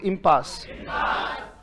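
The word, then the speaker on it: impasse: Word है बेटा हमारा, बोलो इम्पास. इतना ही दम है. हाँ, वेरी गुड. बोलो इम्पास. हाँ, इसको पैसे पैसे मत पढ़ना. इट इज नॉट पैसे.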